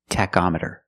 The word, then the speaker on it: tachometer: With the word tachometer, the CH makes a k sound. K, tachometer.